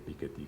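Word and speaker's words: Piketty: el siglo XXI de piqueti si lo pronunciamos como lo pronuncia él como francés O piqueti como le suelen decir los anglos sajones realmente él es piquet porque es de origen francés bien eh ustedes conocen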